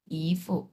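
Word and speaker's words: 姨夫: close পোশাক তাহলে উচ্চারণ একই মত হচ্ছে না শুধু টোনটা আলাদা এইযে দেখ এই টোনটা আলাদা শুধু এটা হচ্ছে দুই নাম্বার টন ইফ এরকম ইফ আর ওটা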